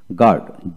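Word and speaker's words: guard: তারপর আসেন গার্ড, জি ইউ এ আর ডি, গার্ড, এখানে জি এ আর ডি, গার্ড, ইউ উচ্চারণ হবে না।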